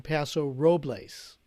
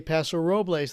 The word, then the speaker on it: Paso Robles: radio station up in paso robles okay i get on the air and i do the top of the hour id and i say paso robles the guy pulls me